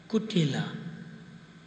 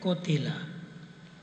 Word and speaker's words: Kutila: So Radharani's sister-in-law, her name is Kutila. See? And sometimes they say Kotila. The Brij Bhasha say Kotila. But it's spelled Kutila.